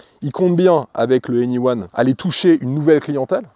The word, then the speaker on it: e:Ny1: Voici le nouveau Honda Anyone. Alors ça s'écrit E-N-Y-1, il faut quand même connaître la prononciation avant de se lancer.